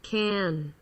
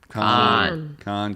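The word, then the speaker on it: Cannes: check this out can't she can't hear this can can dad can't con concussion uh so when you're talking to your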